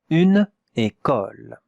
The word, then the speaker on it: école: Une école. Et on regarde maintenant la prononciation. Et, k, ol. Ol. Not o, non.